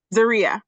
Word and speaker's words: Zaria: Zaria, is that correct? Zaria, like Maria. Zaria, okay.